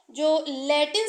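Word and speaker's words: Jules: है वह साइलेंट है और इसमें जूल्स इसको मत पढ़िए यह जूल है जूल मिसले इसका सही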